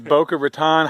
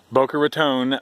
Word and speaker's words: Boca Raton: definitely the outside of all right outsider is Boca Raton how do you say it Booker it's our Boca Raton Florida so yeah I've been cool hanging out